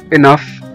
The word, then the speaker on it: enough: وزي كمان كلمة enough، enough أو كافي أو يكفي. enough E-N-O-U-G-H. الجي جه بعد منها الاتش وخلاها اتنطقت كأنها اف أو حرف الفه زي ما احنا شايفين دلوقتي.